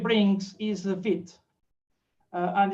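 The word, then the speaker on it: Vite: next thing that the V3 brings is a vit and it's pronounced vit not V just just make sure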